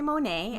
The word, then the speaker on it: Monat: Monat. Well, some people say Monet. I say Monat. And that's short form for modern nature.